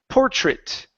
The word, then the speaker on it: portrait: worries okay so uh this word here is pronounced portrait okay So even though this is an ai, you guys, it's not a long a in this word. The word is pronounced portrait. Portrait.